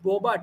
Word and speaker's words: Bobat: Mo Bobat, I think that's his name. Yeah, if I'm Mo pronouncing Bobat.